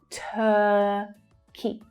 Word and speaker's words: Turkey: The stressed syllable is the first one, and it's the as in her vowel sound. Turkey, Turkey.